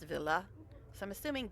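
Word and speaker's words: Ville: And my favorite singer, one of my favorite singers, his name is spelled V I L L E and it's pronounced Villa.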